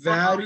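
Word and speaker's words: where: எப்படி படிக்கணும்னா இங்க பாருங்க வேர் இது ரெண்டுத்தையும் ஒன்னாதான் படிக்கணும் இந்த வேர் இந்த ஹச் வந்து சைலெண்ட் இதுவும் வேர் தான் அதுவும் வேர் தான் இந்த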